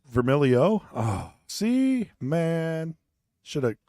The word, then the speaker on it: Vermiglio: out last name well vermilio too I mean you got to just kind of hide the G oh oh so I said it wrong it's vermilio oh see man should